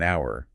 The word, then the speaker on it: hour: wouldn't say an hour we say an hour because of that vowel sound at the beginning even though it's spelled with an H it sounds like it starts with the vowel exactly and it's the